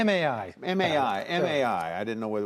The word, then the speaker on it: MAI: pronounce that correctly? MAI. MAI.